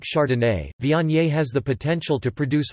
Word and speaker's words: Viognier: Viognier, French pronunciation, Vige, is a white wine grape variety.